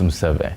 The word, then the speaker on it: Museve: Sorry, I butchered your name initially. It's Museve.